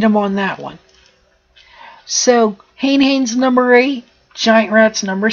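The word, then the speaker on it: Hane-Hane: my number seven is Hayne Hayne or honey honey depending on how you want to pronounce it and how Hayne Hayne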